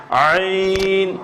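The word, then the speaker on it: عين: বর্ণ আগে বলছি আমি, এটা কণ্ঠনালীতে যাবে কি আইন, আইন। এটা যতক্ষণ কণ্ঠনালীতে না যাবে এটা উচ্চারণ হবে না, মুখে রাখে আপনি যত দিকে চাবেন এটা উচ্চারণ কি সহি হবে না, শুদ্ধ হবে না।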